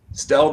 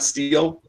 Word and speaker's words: Stell: Did I say it properly? Stell, not Steele.